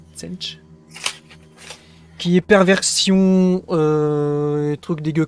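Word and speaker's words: Tzeentch: Et Tsenj, alors ça s'écrit T-Z-E-C-H, je crois, Tsenj.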